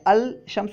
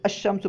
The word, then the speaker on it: الشمس: جیسے الشمس ہے نا، یہاں پہ دیکھیں لام ہم نہیں پڑھ رہے ہیں، الشمس نہیں کہہ رہے ہیں بلکہ الشمس پڑھ رہے ہیں، کیونکہ